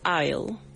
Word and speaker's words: aisle: This is a very new word for us, aisle. All right? The S is silent.